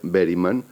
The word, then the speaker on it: Berryman: No recuerdo exactamente si fue a través de hablar de Bergman o Berryman, como me dice nuestro amigo Paco Uriz, que en realidad se pronuncia Berryman.